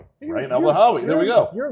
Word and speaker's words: Rayan Elbanhawy: if you get close, how do you pronounce it? Uh Ryan Elanhoi. Okay. Ryan Elahawi.